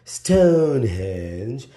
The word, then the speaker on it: Stonehenge: Stonehenge that's how the locals say it and that's the